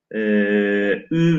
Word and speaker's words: ü: Bu V bağlacı arkadaşlar Farisi Farisi terkiplerde Ü veya Vü şeklinde okunuyor. Ne zaman Ü kendisinden önceki kelimenin son harfi ünsüz ise, mesela dal ünsüz, o zaman Ü. Fakat kendisinden önceki kelimenin son harfi ünlü ise Vü şeklinde.